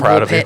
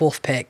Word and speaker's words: Woolpit: I'm really proud of myself saying Woolpit, not Wolf Pit, because I was struggling real hard.